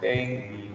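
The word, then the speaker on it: dengue: यस, इट इज नॉट डेंगू। आप जहां भी सुनोगे people pronounce it एज डेंगू डेंगू, ये डेंगू थोड़ी है, दिस इज एक्चुअली डेंगू।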